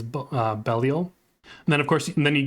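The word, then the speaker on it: Belial: has Bell or B I know in Diablo they call him B but I think the more um common pronunciation is bellal then of course then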